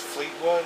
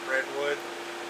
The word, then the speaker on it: Fleetwood: His name was Fleetwood, and I don't know why I even looked and I said Redwood.